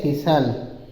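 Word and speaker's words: thistle: ठीक है आगे देखिए टी एच आई एस टी एल है तो इसको बोलते हैं सिसल ससल ठीक है वसे बोलते तो थिल हो जाता है लेकिन इसको टी साइलेंट कर तो सल बोला जाता है और ससल मीस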